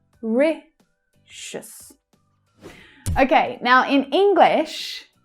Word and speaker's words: Mauritius: So here as well, how the third syllable reduces down to the schwa. Mauritius.